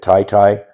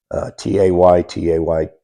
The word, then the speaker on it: Taytay: We want to look at Taytay, Taytay, Taytay. That's how it's pronounced.